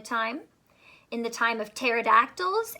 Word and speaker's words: pterodactyl: in the time of pterodactyls asked silent P the word pterodactyl silent not quite so